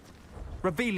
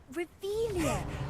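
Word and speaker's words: Revelio: Where are you, Revelius? You're saying it wrong. Reveilia, much better.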